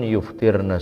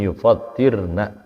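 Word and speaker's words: يفطرن: Jadi jangan kita baca khamsun yuftirna shaima. Salah. Ya. Lagi kita disebut ustadz bacanya khamsun yuftirna shaima. Lagi khotib, lagi kultum, bisa dijebain sama orang paham. Ya. Tapi khamsun yufattirna, fattara yufattiru artinya membatalkan.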